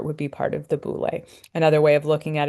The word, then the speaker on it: boule: This is pronounced boule. I probably should have put a long mark over that E.